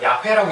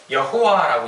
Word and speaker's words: 야훼: 이게 보니까 야훼, 이걸 야훼라고 읽기도 하고요, 여호와라고 읽기도 하거든요.